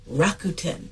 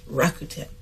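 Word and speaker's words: Rakuten: that bought into Pinterest the name is rakuen that's rakuen and uh here's a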